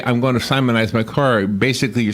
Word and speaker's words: Simonize: The Simonize, I looked it up, and it shows you how to pronounce it. Simonize.